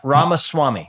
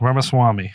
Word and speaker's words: Ramaswamy: pronounce this our name you can pronounce it Rama Swami Rama Swami Vivek like cake Vivek